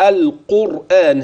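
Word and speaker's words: القرآن: تفخيمها عمليه ولقد يسرنا القران للذكر هذه الكلمه عند النطق القران هكذا القاف مفخمه والراء مفخمه مع انها ساكنه اذا الراء ان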